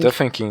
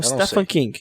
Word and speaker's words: Stephen King: acho Eu também acho me corrija aí a pronúncia Stephan King Stephan King stepan King Stephan King Stephan King assistiu uma uma Premiere do do do fil Na verdade eu vi uma vez falando que é Stephen King quase um Stephen King